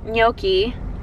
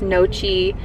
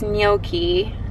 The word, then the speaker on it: gnocchi: But someone in my comments told me that it's not pronounced gnocchi, and that it's, ooh, big ass truck, blocking the sun. That was nice. It's not pronounced gnocchi, it's gnocchi or something like that.